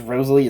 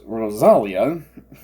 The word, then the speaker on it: Rosalia: is Rosalie okay okay I I've been pronouncing it as Rosalie it's Rosalia my bad my I guess